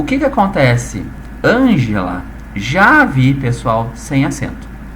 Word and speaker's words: Ângela: Muita gente já sabe que Ângela, quando a gente pronuncia Ângela, vem cá, preciso falar contigo. Olha aonde é que eu dei a maior tonicidade, onde é que eu puxei agora a sílaba com maior ênfase. O an, né, gente?